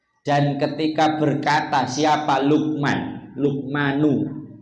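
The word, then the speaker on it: لُقْمَانُ: ketika berkata siapa Lukman lukmanu bacanya Nuh ya karena sebagai fa'il kepada anaknya wahuwa dan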